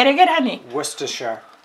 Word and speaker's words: Worcestershire: Han, can you tell us how to pronounce correctly that word? Worcestershire sauce. Worcestershire sauce. ¿Se dan cuenta? No es tan fácil, pero say it again, honey. Worcestershire. Worcestershire.